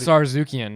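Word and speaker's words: Tsarukyan: But Sarzukian, right? Yeah. He's like... He's a silent T. Yeah, I thought that was funny. I'd be pissed. I think I'm ready to fight, motherfucker. I think Sarzukian can beat him.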